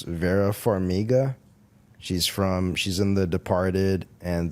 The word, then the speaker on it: Vera Farmiga: I think I don't know how to pronounce her name. It's Vera Farmiga.